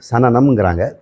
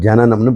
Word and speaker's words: சனனம்: இங்கே வடமொழி சொல்லு, தமிழில் அவங்க சனனம்ங்கிறாங்க, நம்ம ஜனனம்னு படிக்கணும். மூ ஏடனைன்னு போட்டிருப்பாரு, மூ ஏஷனைன்னு படிக்கணும்.